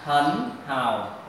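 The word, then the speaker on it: 很好: Các em thấy này, thanh ba và thanh ba mình đọc là hần hào rất là khó nghe, bởi vậy là người ta sẽ biến là hai chữ này đi chung với nhau là thanh ba thì sẽ đọc là hấn hào, hấn hào.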